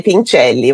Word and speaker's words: Pincelli: Não pronúncia em português, tá correto. Se fosse o sobrenome ali italiano, aí seria Pinchelli. Mas eh as duas formas estão corretas.